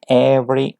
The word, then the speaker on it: every: It says, I visit my grandparents every Sunday. So pay attention to the pronunciation. Visit. I visit my grandparents every, not every, every. So the pronunciation, you eliminate the E and you say every Sunday.